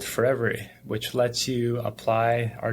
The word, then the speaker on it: Forevery: That's spelled forever with a Y at the end. It's for every one of your photos.